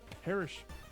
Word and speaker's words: parishioner: home-baked cookies made by one of his parishioners.